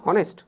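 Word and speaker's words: honest: first স্লাইডে আমরা দেখেছিলাম কি অনেস্ট ম্যান কি দেখেছিলাম আমরা অনেস্ট দেখেছিলাম অনেস্ট এটা কিন্তু উচ্চারণ কি হনেস্ট তো না অনেস্ট তোমরা অনেস্ট উচ্চারণ কর অনেকে না উচ্চারণ কি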